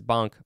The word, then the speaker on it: Bank: way bunkling and bonk i said bank before but it's bonk probably uh those are both capitalized